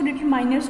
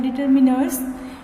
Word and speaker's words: determiners: इसको हिंदी में बोलते हैं निर्धारक, कुछ उसको डिटरमाइनर्स भी बोलते हैं, लेकिन जो इसके प्रोनाउंसिएशन है वो है डिटरमिनर्स।